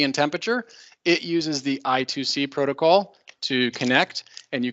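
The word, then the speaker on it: I²C: or SPI I think sometimes this is pronounced I squared C but I just learned it from reading so i2c or SPI those are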